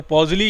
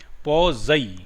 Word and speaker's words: Poiseuille: तो पॉज़ली equation पॉज़ई equation, ठीक है, प्रोनाउंसिएशन जो है उसका पॉज़ई है, पॉज़ई।